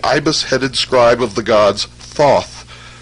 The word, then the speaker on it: Thoth: scribe of the gods Thoth, pronounced Tehuti.